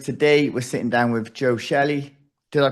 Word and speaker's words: Joe Shelley: Today we're sitting down with Joe Shelly. Did I pronounce that correct, Joe?